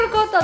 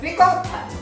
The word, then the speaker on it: ricotta: How do you say ricotta the right way? Ricotta. Not ricotta. Yes, no, please don't say ricotta.